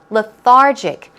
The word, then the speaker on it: lethargic: here we go with the stress goes on the second syllable lethargic some synonyms are sluggish